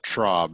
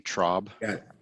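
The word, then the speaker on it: Traub: your last name uh trob it's a short o sound t-r-a-u-b trob thank you looks like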